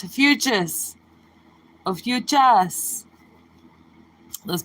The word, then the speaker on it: Ophiuchus: say a fucus sometimes you'll hear me say a fucus because I'm used to saying it that way but it's a futes a futes let's pronounce it and do it